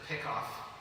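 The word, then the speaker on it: PICOS: I pronounce it pick off trying to trying to evoke the baseball play.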